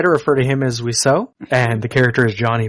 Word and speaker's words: Wiseau: It'd be Wiseau, because it's a respelling of the French word for bird.